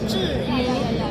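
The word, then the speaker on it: Zhiyun: But how you say it correctly? In Chinese, it sounds like 智云.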